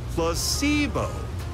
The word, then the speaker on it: placebo: today repeat after me Placebo H the stress is on the middle syll placeo very good you're